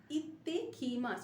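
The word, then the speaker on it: いってきます: মাস, ইত্তে কি মাস, double pronunciation of ত, ইত্তে, ইত্তে কি মাস, অর্থাৎ আমি আসছি, গিয়ে আসছি, ইকু মানে যাওয়া, ইত্তে কি মাস গিয়ে আসছি।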